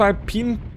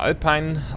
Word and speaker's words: Alpine: vorhatte wir sind auf alpin Peaks oder alpine alpin alpin ich glaube alpin wird das ausgesprochen korrekt alpin Peaks und zwar